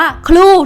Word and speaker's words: clue: อ่าน ว่า คิ้ว ค่ะ มัน อ่าน ว่า ครู ทุก คน ฝึก ก่อน นะ คะ คำ นี้ คือ คือ รู ครู LS True Blue loose อา ไป ใช้ กัน